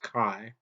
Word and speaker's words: chi: And this also goes in, tells us that that symbol chi is the Greek lowercase letter chi, and it's pronounced chi, K-Y-E.